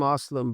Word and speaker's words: Aslam: It's Kasim Aslam.